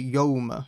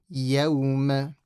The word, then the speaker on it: يَوْمَ: So when you say يَوْمَ, don't say يَوْمَ, yo. Make sure the fatha is pronounced properly. يَوْمَ.